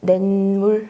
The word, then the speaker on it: 냇물: 1번 냇물 발음 나는 대로 적으면 냇물 미음 앞에서 니은으로 소리 난 거 맞죠?